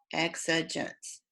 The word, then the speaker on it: exigence: is now exigence repeated exigence pronounced just like it looks okay all that means